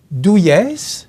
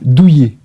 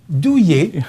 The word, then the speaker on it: Douillet: Douillès, j'espère que je le prononce bien. Douillet. Douillet, merci. J'avais pris la peine pour le prénom, mais je ne l'ai pas fait pour le nom de famille.